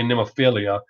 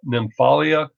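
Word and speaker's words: Nemophila: out i'm pronouncing it i've been pronouncing wrong i'm gonna say nemophilia but it's the nymphalia i really really like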